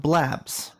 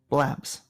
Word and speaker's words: B Labs: Get the come back, and we'll talk about blabs. Blabs. Blabs. Is it B labs? It's B labs. I've been saying it wrong for literal years.